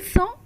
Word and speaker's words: sont: Ils sont, elles sont. Please note the pronunciation here. It has the S sound because it has two S.